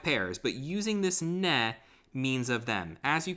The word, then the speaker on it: ne: Quanti ne, scusami, ne, using too much of an English pronunciation there.